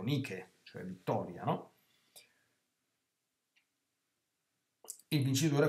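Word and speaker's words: Nike: marca di sportiva che si pronuncia mai che all'inglese ma in realtà è proprio la traslitte la trasmitterazione testuale del Greco nichel cioè Vittoria no il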